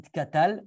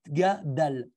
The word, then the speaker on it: Gadal: qui se trompent et qui disent au lieu de pardon il cadal non c'est pas ça c'est Gadal comme ici je montre